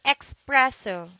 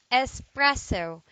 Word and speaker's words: espresso: original February espresso espresso do not say expresso do say espresso it is a noun